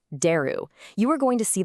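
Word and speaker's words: 出る: First up, exit or leave, pronounced deru.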